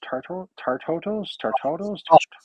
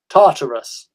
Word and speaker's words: Tartarus: Tartotos? How do you say it? Tartarus.